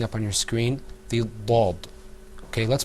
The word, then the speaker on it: ض: Now, let's move on to the next letter, which you're going to see, inshallah, coming up on your screen, the Dad. Okay, let's pronounce that letter together, too.